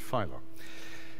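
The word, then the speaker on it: Filo: April 1994 with David does he pronounce it Pho or pH Pho with David Pho and please welcome now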